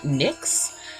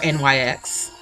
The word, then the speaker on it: NYX: with a base from nicks or nyx depending on how you pronounce it i'm just going